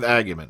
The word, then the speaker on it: Agyeman: Or is it Freema Agyeman? Everyone keeps telling me how to pronounce this name. I'm sticking with Agyeman, okay?